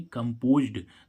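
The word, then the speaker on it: composed: अब इसमें हम देखें सी ओ एम पी ओ एस ई डी इसमें हमने क्या जोड़ा डी जोड़ा तो इसको हम क्या पढ़ेंगे कंपोज्ड तो इसका उच्चारण डी का क्या हो गया ड कंपोज मीस क्या होता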